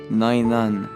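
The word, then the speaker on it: ⲛⲁⲓⲛⲁⲛ: Le mot devant nous se prononce Nainan, ce qui veut dire pitié.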